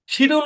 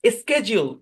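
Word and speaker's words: schedule: তারপরে একটা শব্দ ছিল আমাদের এরকম, যে আপনার শিডিউল, শিডিউল উচ্চারণ করে ব্রিটিশ, স্কেজিউল উচ্চারণ করে আমেরিকান।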